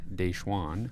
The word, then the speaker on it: DaJuan: So the new additions since we last spoke are, it's spelled like DaJuan, but it's pronounced DaJuan Gordon, transfer from Kansas State.